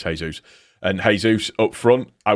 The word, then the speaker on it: Jesus: I know it's Jesús.